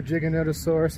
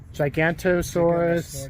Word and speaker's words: Giganotosaurus: it, but my favorite one was probably the Giganotosaurus. I know I hated on it. Oh, you mean Giga? Giganotosaurus. Gigantosaurus Giganotosaurus.